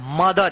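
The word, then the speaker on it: mother: एम ओ टी एच ई आर मदर। इसको मथ मत पढ़िएगा।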